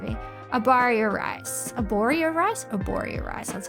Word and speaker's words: Arborio: Arborio rice, that's how you say it.